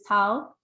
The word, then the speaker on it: Tao: So as you could see, this person said, my name is Tao, and my name rhymes with cow.